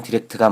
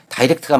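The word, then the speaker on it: direct: 결론은 둘 다 맞습니다. 단어가 동사로 사용되면 디렉트가 맞고 형용사나 영국식 발음으로는 다이렉트가 맞습니다.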